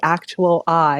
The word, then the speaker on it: Actual I: the host of the Actual I. Is that how you pronounce it? Actual I? Yes, Mm-hmm. actual I. You got it.